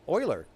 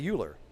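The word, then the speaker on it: Euler: thing I mean like um um Oiler people say uler oh yes yes Oiler oh I love that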